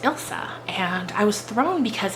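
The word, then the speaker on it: Ilse: left this comment um i've been calling elise elise but it's actually pronounced ilsa and i was thrown because it's i've never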